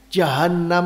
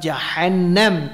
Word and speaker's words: Jahannam: jahanam karena saking dalamnya jahanam itu jahanam kan bacanya gangri itu jahanam hanya 2H bukan jahe name tapi Jahan dan ditasydid makanya dalam kajian ilmu